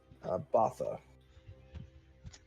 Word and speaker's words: Bautha: Botha. Thank you. Specifically, Botha Deer. But Can you spell that?